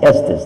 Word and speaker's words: Estes: they changed it to Estes and now they pronounce it Estes that's my last name today so we go